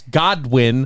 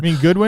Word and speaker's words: Godwin: __ ] player and chris godwin goodwin i'll let you say his name wrong because you're a [